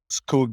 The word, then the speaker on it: Skoog: Skoog means forest in Norwegian, but it spells with one O. We put a double O both because we want that infinite loop, but also so foreigners can pronounce it a little bit more like it sounds in Norwegian.